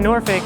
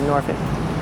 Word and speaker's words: Norfolk: it norfolk so that's my theory on the pronunciation of the town three different versions and this is the